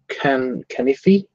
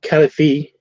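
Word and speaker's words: kal-if-fee: I had a friend who used to pronounce it canifi. Okay, canifi, not califi.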